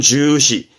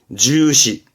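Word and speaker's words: 重視: 발음은 주시, 주시.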